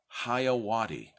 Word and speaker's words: Jeyawati: The J has an H sound, so say it with me. 1, 2, 3. JEYAWATI.